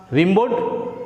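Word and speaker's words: Rimbaud: তাই তার নামের উচ্চারণ অনেকে অনেক রকম করেন, কেউ রিম্বো করে, কেউ র্যাবো করে, কারণ প্রতিটা দেশের প্রতিটা ভাষার উচ্চারণ একটা গঠনশৈলী রয়েছে, তার জন্য উচ্চারণের একটা ডিফারেন্স হয়। তা তোমরা বানান যে রয়েছে রিমবোর্ড, রিমবোর্ডও বলতে পারো, র্যাবও বলতে পারো, রিম্বোও বলতে পারো।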